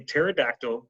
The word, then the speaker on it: pterodactyl: can't you hear a pterodactyl go to the bathroom because the P is silent so I am finished